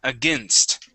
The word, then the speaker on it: against: against it is again against against okay try that one more time against a all right so we want to pronounce that s and then the T against against there you